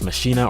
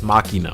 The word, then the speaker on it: Machina: I don't know why people can call me a demon ex machinae or machina I don't know why people that can't pronounce this game correctly but it's a man ex machina okay machina that's how you say the name of the game all right so we